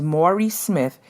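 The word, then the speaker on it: Mari Smith: Her name is Maury Smith, and it's spelled Mari.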